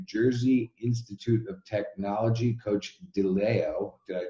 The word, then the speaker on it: Deleo: We are with New Jersey Institute of Technology, Coach Deleo. Did I pronounce that right? Deleo, yes.